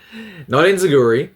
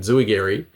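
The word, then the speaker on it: enzuigiri: Not enzuigory, that's a mispronunciation. It's an enzuigari.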